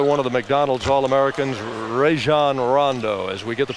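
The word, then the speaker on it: Rajon Rondo: what about another one of the McDonald's all-americans ran Rondo as we get the pronunciation right here out of Louisville and there's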